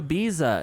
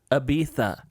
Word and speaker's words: Ibiza: like we're going to ibiza and they're like and they're like ibiza because the proper way to say it's with the lisp so hard to watch